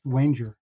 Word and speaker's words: Wanger: think uh Walter wer I think his name is pronounced Wanger by the way oh